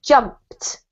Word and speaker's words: jumped: And don't forget, when you have a verb in English, it's really important to pronounce the ending, otherwise we can't tell which tense it's in. So this is jumped. jumped, Yeah, and it has a T sounding ending.